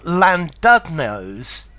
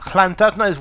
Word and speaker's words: Llandudno: Notice the pronunciation of this double L at the beginning is a weird sound.